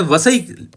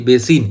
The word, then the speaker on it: वसई: मैं आपको बताऊं तो अब इसका नाम बेसिन नहीं है, वसई बोला जाता है महाराष्ट्र में, वसई। और इंग्लिश में यदि मैं इसका नाम बताऊं तो पहले स्पेलिंग ये थी, इसलिए कई बार आपको गूगल वगैरह में सर्च करने में दिक्कत होती है। बेसिन या बसीन भी बोलते हैं इसको, आजकल वसई नाम है इसका, और ये महाराष्ट्र में है।